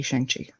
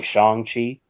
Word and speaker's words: Shang-Chi: name is pronounced, because I heard Kevin Feige say Shang-Chi. I've heard the actor Simu Liu pronounce it as Shang-Chi, where the G is silent.